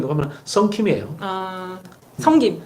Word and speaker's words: 성김: 성김. 성김. 썬킴. 썬킴이라 그래가지고. 경상도라서 발음.